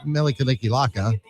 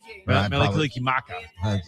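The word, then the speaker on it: Mele Kalikimaka: We played Melikilikilaka. Melikilikimaka. That's what I meant.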